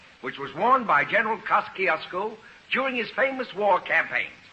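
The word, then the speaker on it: Kościuszko: In Poland, we say his name Tadeusz Kosciuszko. But in America, Tadeusz Kosciuszko is fine.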